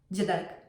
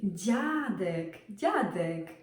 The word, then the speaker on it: dziadek: For example, dziadek. It's not dziadek. It's really hard to pronounce. It's dziadek. Dziewczyna, not dziewczyna.